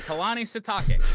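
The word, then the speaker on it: Kalani Sitake: a football name right there actually NOP there's pronunciation in front of me Kanani no I got it right Kanani satake that sounds right I mean hey there we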